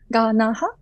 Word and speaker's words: Ganaha: So I think, and also, my name, family name is Ganaha. It's three syllable, Ganaha.